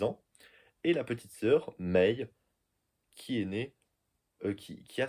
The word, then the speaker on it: Mei: dire mois de mai, c'est avec une prononciation japonaise Mei.